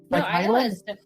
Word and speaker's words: Isla: reading it like written it's like isla that's not that's not how you say it is it it's like isla i think it's isla island no it's like island like because i'm reading